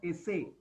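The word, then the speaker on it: ese: S is pronounced as Esse.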